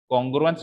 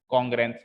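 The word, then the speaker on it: congruence: हाँ, कॉन्ग्रेंस नहीं, कॉन्ग्रुएंस, कॉन्ग्रुएंस, ठीक है। इसकी स्पेलिंग पे जाओ ना, देखो प्रोनाउंसिएशन में स्पेलिंग से बनता है कॉन्ग्रु और फिर एंस, तो कॉन्ग्रुएंस हो गया ना, ठीक है।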